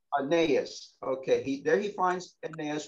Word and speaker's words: Aeneas: How do you pronounce his name? Aeneas. Aeneas.